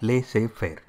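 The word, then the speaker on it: laissez-faire: are followed lay fair is a French word it is pronounced as leay fair and this is also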